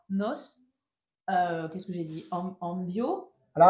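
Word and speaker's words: envío: Envio. Alors, attention à la prononciation. Nos envio. Envio. Porque la acentuación está sobre la O.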